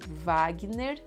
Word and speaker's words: Wagner: So sometimes in Brazil, the W will sound like V. So in this case, Wagner. And then Moura, the OU sounds.